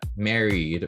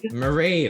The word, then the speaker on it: Mairead: Married, right? Mairead. Mairead.